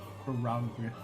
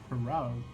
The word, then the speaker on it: prorogue: Progger. Progger. Progger. Prorogue. Prorogue. Prorogue. Prorogue. That doesn't rhyme with frog.